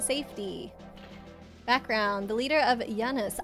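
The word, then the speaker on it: Janus: The leader of Giannis. I was happy I pronounced that right cuz they called it Yiannis in the movie.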